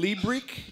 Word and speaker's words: Liebrich: Liebrich?